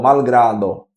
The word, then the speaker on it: malgrado: l malgrado certo é se fosse em espanhol malgrado né a pronúncia né que o l é de fato o fonema L né malgrado certo e